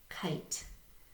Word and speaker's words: kite: E, silent E tells I to say its name. Kite.